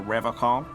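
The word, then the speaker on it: Revachol: But someone has to stay strong for Revocol. His gaze shifts to the pile of soggy logs at his feet. He pronounces Revocol with a hard K, unlike other people.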